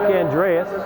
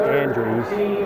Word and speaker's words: Andreas: Nick Andreas. I guess they pronounce his name Andrews.